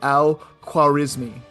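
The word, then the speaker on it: al-Khwarizmi: He Yeah, he's a a 9th century Persian ma mathematician named Al quarismi which is very close to algorithm and not even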